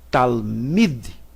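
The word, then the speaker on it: תלמיד: Eu vou ler aqui talmid. Talmid, OK? Sem nenhum som. O L aqui ele é completamente mudo.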